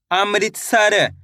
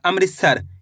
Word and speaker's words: अमृतसर: अ म की मात्रा अमृत त स और र। तो मिलके बन जाएगा अमृतसर। कैसे पढ़ेंगे? अमृतसर।